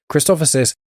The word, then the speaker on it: Christophsis: It's essentially the name Christoph with SIS at the end of it. Christophsis, it's first seen in